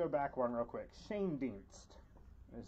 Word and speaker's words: Shane Dienst: Shane Dienst is how it's pronounced.